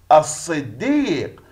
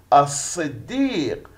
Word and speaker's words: الصديق: هي اللام التي تكتب ولا تلفظ أثناء القراءة، ويأتي الحرف الذي يليها مشددا. ما الإجابة؟ نفكر. الصديق، الصديق، الصديق.